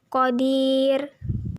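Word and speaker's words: قدير: Apabila berhenti, ro dibaca tarki karena apabila berhenti, ro ini akan disukunkan dan huruf sebelum ro sukunnya adalah ya sukun. Cara membacanya tipis, jadi lidah kita datar. Qadir.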